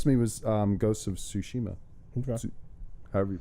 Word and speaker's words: Tsushima: The one that stood out the most to me was Ghosts of Tsushima. Okay. However you pronounce it. Tsushima.